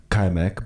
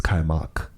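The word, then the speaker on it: kaymak: stuff called kaimak and I always mispronounce it but it's called kaimek but I've been told it's kaimak and you mix it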